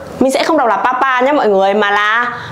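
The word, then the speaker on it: 爸爸: Rồi cái đằng sau mình không có dấu gì, mình đọc nhẹ đi này. Pa pa, pa pa. Mình sẽ không đọc là papa nhé mọi người, mà là pa pa.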